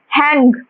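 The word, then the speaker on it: hang: হ্যাং। হ্যাং করে রাখা মানে হ্যাং। হ্যাং। এই জিটা অতটা প্রোনাউন্স হয় না। হালকা লাইটলি মানে এন পর্যন্ত এটা প্রোনাউন্স হয়। যে হ্যাং এতটুকু।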